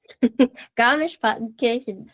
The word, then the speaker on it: Garmisch-Partenkirchen: Okay, so it's 2 words, Garmisch-Partenkirchen, because the AR is pronounced as A. So it's Partenkirchen. Garmisch-Partenkirchen.